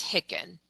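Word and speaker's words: HICN: claim number or you may even hear it pronounced as Hickin. Medicare did away with the hick numbers back in 2020, but if you ever see Hickin referenced anywhere, know that this was the patient's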